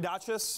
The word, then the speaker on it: Dachis: like howdy i'm duchess that's how you pronounce the last name if anyone cares um